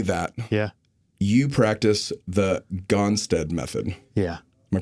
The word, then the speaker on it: Gonstead: So, me knowing only that, yeah, you practice the Gonstead method. Yeah. Am I pronouncing that right?